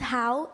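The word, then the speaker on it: Hau: you've got two minutes pronounced how h-a-u Hao di how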